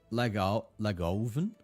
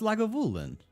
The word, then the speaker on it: Lagavulin: Lagoven? Oh man. Am I saying it wrong? No, it's Lagavulin.